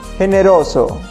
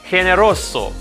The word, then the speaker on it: generoso: listen to these words generoso it makes a rasping sound in the throat generoso hymnasio in general the